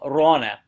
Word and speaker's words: Raane: Then the plural form of it becomes a little more difficult because it goes from Ron to Raane. So double A is pronounced like an O, like Urglaawe.